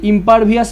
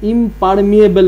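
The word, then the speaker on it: impermeable: সেটা বুঝতে পারবে এই ইম্পারভিয়াস মেমব্রেনটা দেখতে কিরকম হয় ইম্পারভিয়াস মেমব্রেনটা দেখি দেখাই তোমাদের কেমন দেখতে হয় এই যে ইম্পারবিয়াল ইম্পারভিয়াস না ইম্পারমিয়েবল মেমব্রেন যাই হোক এটাই সঠিক উচ্চারণ আমি উচ্চারণটা ভুল করেছি তো ইম্পারমিয়েবল মেমব্রেনের সাহায্যে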